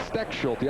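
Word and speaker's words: Stechschulte: And Tom, this is on you, the pronunciation. It's Steckschulte.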